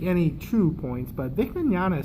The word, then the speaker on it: Mignogna: two points but vic Mignogna sounds like he's Italian I mean that's how he actually tells people how to pronounce his name he says just think of it like an Italian I think him in